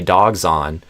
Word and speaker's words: dogs: If I say dogs on, zon, it sounds like a Z.